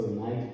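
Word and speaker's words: knight: So if you see a word in English that starts with the letter K and is followed by an N, the K is going to be silent, probably 100% of the time.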